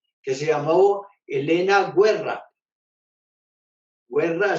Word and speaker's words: Guerra: Guerra se escribe guerra como en español, pero los italianos pronuncian guerra.